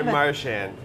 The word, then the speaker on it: Marchand: go by Marchand.